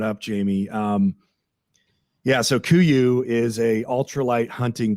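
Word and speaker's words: Kuiu: to the nines and I see you're wearing kooy so uh I know you have a personal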